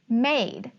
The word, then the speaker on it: made: but there's an e i see m says um the a says the long a sound the d says d but then there's that